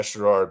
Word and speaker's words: Sherrard: And then how do you say it? Sherrard? Yeah, Sherrard, Brandon Sherrard.